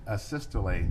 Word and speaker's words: asystole: to the jury uh a systole i think is called um am i pronouncing that right by the way asystole yeah yes would you spell that